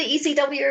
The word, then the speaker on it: ECW: n76 is going extreme well to to the ECW Arena I'm so excited and I said it right not EC3 Arena ECW Arena well to be fair it